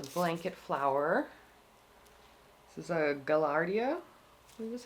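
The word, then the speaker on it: Gaillardia: we have the blanket flower this is a gallardia is how you say it these are a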